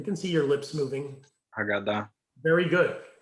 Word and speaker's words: Haggadah: Haggadah. Very good. Haggadah, or Haggadah in correct modern Hebrew.